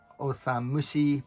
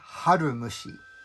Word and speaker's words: Osamushi: they first introduced tezuka they read his pen name wrong he was writing as tezuka osam mushi but they introduced him as tezuka harumushi which is strange and then later he